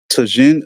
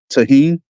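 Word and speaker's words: Tajín: out just to say Tajin am I am I supposed to I'm not supposed to pronounce the J am I the tahen and mango maybe spell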